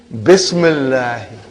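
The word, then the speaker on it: بسم الله: If you took out B, how will you pronounce now? Ismullahi. What will you say? Ismullahi. Bring B, Bismillahi.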